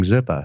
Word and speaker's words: Zippah: i'm sorry ziploc but the way everybody was saying it with the massachusetts accent i guess around then was they were saying zipa so yeah it just kind of i think pete started to spell it that way and it was sort